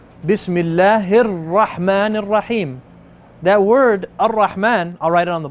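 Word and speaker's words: الرحمن: the Arabic language also, we don't have the rolling R's. You don't hear, you're not a motorboat. You're not going to say Ar. Okay? It's Ar-Rahman. Ar is barely enough air to go past your tongue and the top part of your mouth.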